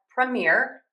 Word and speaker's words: premiere: The difference here is going to be syllable stress. So, let's practice these as premiere and then we'll practice them as premier as well.